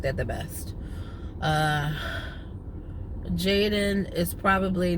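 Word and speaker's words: Jadon: It is the Hebrew name, and in Hebrew, it is pronounced Yadon. So I am spelling it without the apostrophe, so J-A-D-O-N, and I am calling him Jaden. If he wants to call himself Yadon, I'm fine with that. If somebody else wants to nickname him Yadon, I'm fine with that too, but I am pronouncing his name officially Jaden.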